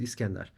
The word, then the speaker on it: Iskender: By the way, it took me more than 4 decades to pronounce my name as my mother would do it. So it's not. I was always pronouncing it the German way, Mhm. and I changed to pronounce it the original way, which is Iskender.